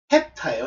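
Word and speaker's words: ἑπτά: 근데 정확하게 발음은 에타가 아니고 헵타예요. 헵타.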